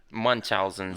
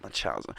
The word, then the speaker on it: Munchausen: So how do you pronounce it? Munchausen syndrome. Munchausen.